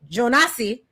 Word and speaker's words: Jonasi: Spell Jonasi, but I think they pronounce it Jonas. Yeah, it's just Jonas.